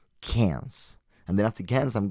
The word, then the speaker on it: Cairns: Cairns.